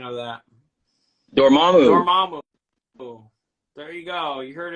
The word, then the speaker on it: Dormammu: what's the what's the uh what's the official pronunciation of that dormammu there you go you heard it there yeah